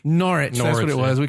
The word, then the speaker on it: Norwich: thank you was that last night wasn't it norwich nor it nor it it was we could say North